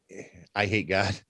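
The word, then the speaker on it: Eyehategod: like that um but i hate god yeah that's a band yeah it but it's spelled i like e y e i hate oh yeah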